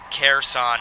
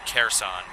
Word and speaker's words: Kherson: Kherson is the pronunciation. Thank you for that, Erica C. Kherson.